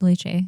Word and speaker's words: lychee: Not Lychee. Yeah. lychee. Leche is how you say it. That's how they pronounced it.